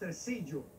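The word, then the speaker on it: Tresillo: It's pronounced Tercillo.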